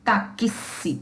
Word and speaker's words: táxi: som do I e o X, que é uma letra, nesta palavra, ele vai representar dois fonemas. É o XI, QSI, taxi, taxi, XI.